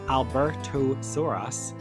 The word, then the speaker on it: Albertosaurus: This is the story of the Albertosaurus, pronounced Albertosaurus, and the Troodon, pronounced Troodon.